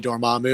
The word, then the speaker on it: Dormammu: most of us hoped it was gonna be dormammu because that's how we read it when we